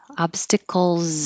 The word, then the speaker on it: obstacles: -to-day obstacles of Life obstacles of Life the S is a z and it connects to the O obstacles of life doggy